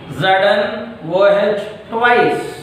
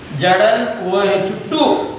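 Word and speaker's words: Zn(OH)2: The correct pronunciation is ZnOH twice. ZnOH twice is the correct method of pronunciation. ZnOH twice. The wrong method is ZnOH2 is the wrong method.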